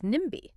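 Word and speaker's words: NIMBY: Speaking of words crossing over, our next word is nimi. Now, unlike ASMR, where we say each letter, nimi is an abbreviation that is pronounced as a word.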